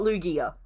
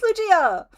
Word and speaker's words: Lugia: It is Lugia. And yeah, I hit it with a soft G. It's not Lugia. It's not a Lugia. It's Lugia.